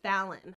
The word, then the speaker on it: Phelan: And she said it was pronounced Phelan.